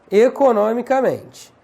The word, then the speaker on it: economicamente: Heróizinho, economicamente. Porque a sílaba tônica muda de posição.